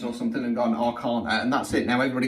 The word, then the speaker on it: Arcana: of times now that everybody calls the tarot the major and minor Arana it's it's Arcana okay in England at least it's Arcana and go and look it up go and Google pronunciation I've double checked I've triple checked I've been through a number of different ones it is Arcana however somebody once has